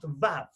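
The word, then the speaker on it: ו: Now, Val-Ash starts with a V, and the letter is pronounced Vav.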